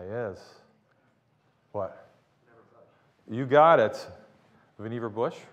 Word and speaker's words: Vannevar: Vannevar Bush, rhymes with beaver, by the way. Easy way to remember how to say that.